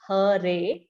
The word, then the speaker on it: Hare: The words Hare pronounced Hare, Krishna pronounced Krishna, and Rama rhymes with Rama are Sanskrit words.